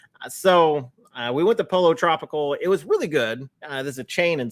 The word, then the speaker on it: Pollo Tropical: you Gary for reminding me how to that's pronounced and uh he he walked me through it guys so uh we went to Polo Tropical it was really good uh there's a chain